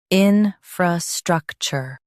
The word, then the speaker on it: infrastructure: Stress struck and keep chur light.